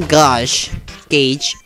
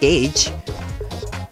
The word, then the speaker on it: gauge: you don't say even this even if the gauge gauge why am i pronouncing that weird i know it's pronounced gage if the game empties out though you can